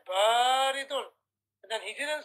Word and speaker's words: بارد: صغير أحسنت وبارك الله فيك اقرأ يا حذيفة اللبن بارد والماء حار أحسنت وبارك الله فيك So look brothers, notice how حذيفة said اللبن بارد He didn't say بريد He said بارد And then he didn't say والماء He said, wal-ma'u.